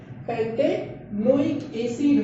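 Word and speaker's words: pentanoic acid: तो पेंट, ई को हम लोगों को साइलेंट करना है, ई को साइलेंट करना है, ओइक एसिड लगाना है, पेंटेनोइक एसिड हो जाएगा, पेंटेन ओइक OIC ओइक एसिड हो जाएगा।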